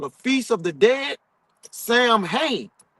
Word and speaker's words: Samhain: The ritual we embrace as Halloween was originally called the Feast of the Dead, Samhains, or pronounced Samhain, Samhain.